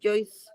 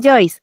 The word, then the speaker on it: Joyce: No es Joyce. Es Joyce.